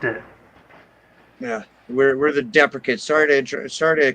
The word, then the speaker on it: Deprecates: it's we've had a lot of trouble with the pronunciation of the band name but I just want to get that out right out and clear right right now we're the deprecates right deprecates and we